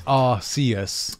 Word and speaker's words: Arceus: First of all, it's R-C. Yeah, it's not Arse. Just because you put Arse there, it doesn't mean that's the way we meant it. Yeah, it's Arceus.